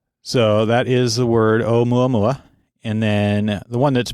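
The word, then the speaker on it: ʻOumuamua: And I think I'm saying it wrong. I guess it's o mua mua. But nonetheless, it means in Hawaiian a messenger from afar arriving first or advanced scout. And how do you say it again? O mua mua. O mu mua. I've heard it said mua mua as well, but I guess you'd have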